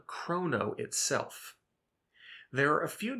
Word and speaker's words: chrono: You may hear some developers say chrono, however, we believe this is inaccurate. We're going to use the root origin and use the Greek pronunciation, which would be chrono.